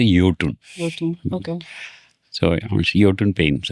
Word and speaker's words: Jotun: It's Jotun. But in Norway, it is pronounced as Jotun.